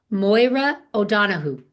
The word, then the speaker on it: Máire O'Donohoe: I had to get a little tutorial from you before we began on pronouncing your name properly. So, Máire O'Donohoe.